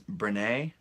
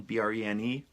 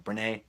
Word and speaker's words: Brené: believe I don't wanna mispronounces brene brené Brown bre any with an accent Brown brené Brown and the book